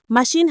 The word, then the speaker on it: machine: Machine has a shh sound.